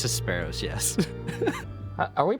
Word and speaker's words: Hesperos: It's Hesperos, yes. Are we pronouncing this Phoenix or Phoenix, by the way?